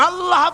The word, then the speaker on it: আল্লাহ: পাকের নামের উচ্চারণ হচ্ছে আল্লাহ আল্লাহ মুখটা একটু গোল হয়ে যাবে বলেন আল্লাহ আল্লাহ সুবহানাল্লাহ পৃথিবীতে বিভিন্ন